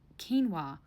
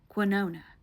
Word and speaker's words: quinoa: Mind you, this man sells insurance and pronounced quinoa quinona when he ordered his food.